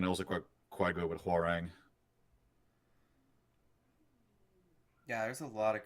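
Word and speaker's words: Hwoarang: Horang.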